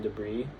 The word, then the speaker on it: debris: P and Q, and the S in debris.